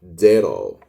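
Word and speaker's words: zero: حرف الزيتا اللي هو ده لو جه في أول الكلمة بننطقه دز، يعني كأنه الدال والز في بعض كده، دز. زي كلمة زيرو، زيرو، زيرو يعني زيرو، زيرو.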